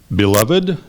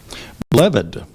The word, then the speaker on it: beloved: there any alternate pronunciations there are beloved or beloved beloved sorry beloved b